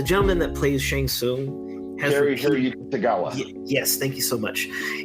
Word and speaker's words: Tagawa: like that like um kerry i can always mispronounce his name the gentleman that plays shang tsung tagawa yes thank you so much he's repeatedly come